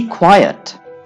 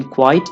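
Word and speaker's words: quiet: बी क्वाइट, इसकी pronunciation क्वाइट नहीं है, इसको आप बोलेंगे बी क्वाइट, क्वाइट, क्वाइट।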